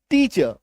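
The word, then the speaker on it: teacher: फिर टी ए सी एच ई R last में आर आ रहा है तो लिखते समय तो ऐसे लिखेंगे टीचर बोलते समय टीचर बोलते समय टीचर टीचर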